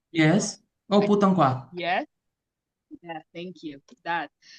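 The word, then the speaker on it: 普通话: Cantonese, or excuse my pronunciation. Um, Lizzie, could you help me, please? Putong Hua. Yes. Oh, putang kwa.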